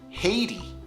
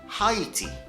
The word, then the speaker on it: Haiti: In North America, it's pronounced Haiti. Haiti. However, I come from the UK, so I pronounce it Haiti. Haiti. Which one's correct? Who knows?